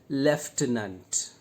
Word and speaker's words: Lieutenant: Lieutenant. And there is no f sound here.